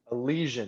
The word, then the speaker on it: Elysian: Elysian.